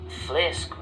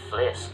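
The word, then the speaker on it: Phléasc: letters of a word, this is pronounced with an F sound, an F sound. An example would be Flesk me amach a goir. I burst out laughing, or I exploded with laughter. Flesk me amach a goir.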